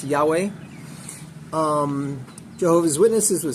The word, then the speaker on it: Yahweh: is Hebrew letters in English they're YHW or pronounced Yahweh um Jehovah's Witnesses would say Jehovah, but it's Yahweh, something like that.